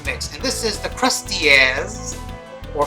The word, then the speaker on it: Krusteaz: favorite box cake mix, and this is the Krusteaz, or Krusteaz. I prefer my pronunciation.